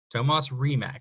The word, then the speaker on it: Tomas Rimac: from an offensive lineman Tomas Rimac Thomas Rimac that's how you say it I made sure